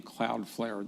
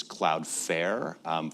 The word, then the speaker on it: Cloudflare: So where did you get the name Cloudflare?